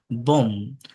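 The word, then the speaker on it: bomb: এম বি থাকলে be silent থাকে। যেমন বম, কম, থম, ক্লাইম, ক্লাইম, ক্লাইম না, ক্লাইম, ল্যাম, নাম।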